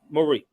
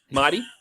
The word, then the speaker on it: Mahdi: know shout out to mighty because mighty also said marie because i know i'll be messing her name no you said it right the first time mahdi yeah shout out to